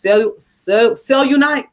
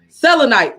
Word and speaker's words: Selenite: This one is, I think it's pronounced cellunite. Is that how you pronounce it? Selenite.